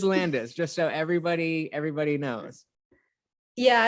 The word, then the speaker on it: Landes: got to ask you, is it Lanfes or Landis? Because I'm sure you know that on the front of your book, your name is spelled Lanfes, and on the back, it's spelled Landes. Were you even aware of this? I did know that. I'll probably have to change that. So it is Landis, just so everybody knows.